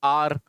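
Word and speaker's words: hour: will return इन आ फिर वही article base आर आर बोलते हैं आर आवर ठीक है आर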